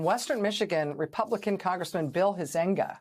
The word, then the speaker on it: Huizenga: In Western Michigan, Republican Congressman Bill Huizenga, I think that's how you say his name. It's Huizenga, Huizenga.